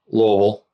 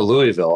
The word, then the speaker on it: Louisville: Louisville. Kentucky. And it was on her phone. He's like, yeah, we're going to Louisville.